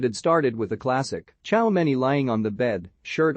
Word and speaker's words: Tchouaméni: with evolving real madrid my name is aurelien ciao many okay real madrid's new midfielder smiled told the